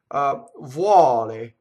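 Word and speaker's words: vuole: So the U in this case is just a W, right? It's a semivowel. Vuɔle, but from the U position, right? Semivowel. The UO almost always opens the O in Italian, like fɔco, right?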